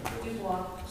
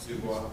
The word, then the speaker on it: Dubois: is that how you pronounce that? Dubois. Dubois.